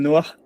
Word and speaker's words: noir: I think you can tell by Can how you give the correct pronunciation of noir?